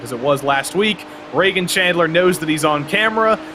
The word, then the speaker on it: Reagan Chandler: the past three seasons it's Reagan Chandler not Regan Chandler so I uh I